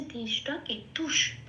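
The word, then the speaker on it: ধৃষ্টকেতু: কেতুহ কেতুকে আমি চান্টিং এর জন্য যখন তার উচ্চারণ করব সেজন্য ওটা হয়ে গেছে দৃষ্ট কেতু তারটাকে আমরা উচ রাখছি না তারটাকে নিয়ে উচ্চারণ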